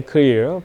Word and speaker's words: EKLEER: I take the EKLEER, but I want to be, is a more European sound. We like to starting to the accent on the top of the E.